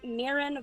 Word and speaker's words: Mirin: for the life of me pronounce your goddamn name nobody ever can it's mirin just call me Mir being in culinary